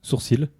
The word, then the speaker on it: sourcil: Sourcil. Je prononce le L.